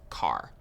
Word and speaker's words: char: covered integers what's next chars so chars are used for variables that will store single characters chars short for character and sometimes you might hear people pronounce it as car so characters always take